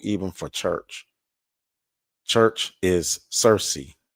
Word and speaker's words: Circe: So Circe, it says right here, goddess Circe, sometimes pronounced Kirke, so C-I-R-K-E.